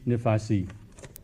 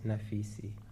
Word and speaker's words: Naficy: So uh let us begin with our first writer Nefasi. Thanks Hi, thank you Alhamra. Uh, my last name is pronounced Nafisi.